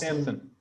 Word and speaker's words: Samson: it pronounced? Samson.